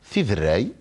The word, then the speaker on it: Tiderray: Eh ben voilà, vous l'avez très bien prononcé. Tidrei.